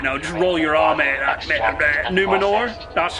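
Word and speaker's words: Númenor: like ah you know just roll your army numenor that's how you pronounce it yeah it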